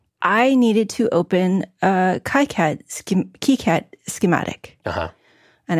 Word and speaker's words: KiCad: I needed to open a KiCAD schematic. Uh-huh. And I pronounce it KiCAD because that apparently is the way they originated to pronounce it.